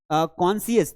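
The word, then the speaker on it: conscious: यहाँ देखिए कॉन्सियस, तो कॉन्सियस में भी जो है आपको ध्यान रखना है कि यहाँ पे सी को नहीं पढ़ना है।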